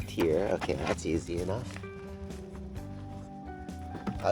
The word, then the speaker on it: Tyr: excited you have to help me with the pronunciation of their name yeah this is tiar tiar okay that's easy enough I was like it's